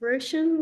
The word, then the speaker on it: Roisin: It's Roshan, like the ocean.